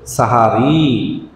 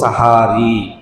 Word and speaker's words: সাহারি: তাদেরকে মুক্তি দিয়েছি তাহলে সাহারি শব্দটা হবে উচ্চারণ হবে সেহরি বা সাহারি এভাবে না বলে আমরা বলবো সাহারি কি বলবো সাহারি এটাই হলো সত্য তাহলে সেহরি